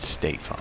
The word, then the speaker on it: Stefan: Stefan shot at the 14, and I believe I asked him one time how he pronounces his Stefan first on the name, and he turkey. said Stefan. Stefan.